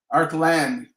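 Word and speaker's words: Arklan: again a-r-k-l-a-n and again if I were to say that phonetically be our plan again is that correct our Glenn yes a-r-k-l-a-n um he says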